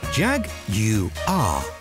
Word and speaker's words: Jaguar: state of charge and here is the correct pronunciation of the word Jaguar jag you are easily now you try this is a 2012